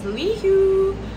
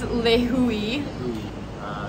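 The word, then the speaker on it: Lihue: We were like, how do we pronounce this? We thought the airport in Kauai was Lihu, also because of Frozen, big summer blowout. But it's Lihui.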